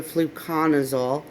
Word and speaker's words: Fluconazole: Hello everyone, today is day 14 for the Fluconazole, that is how it's pronounced, treatment in my 180.